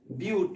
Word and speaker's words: but: पढ़ते क्या भाई, ब्यूट, BUTE, ब्यूट पढ़ते हैं लेकिन लिखते हैं बट, ठीक है। जानबूझ करके यहाँ पे गलती पढ़ना पड़ता है, ठीक है। इट मीन्स दैट कि बट तो लिख रहे हैं, प्रोनाउंसिएशन क्या है, ब्यूट का करेंगे।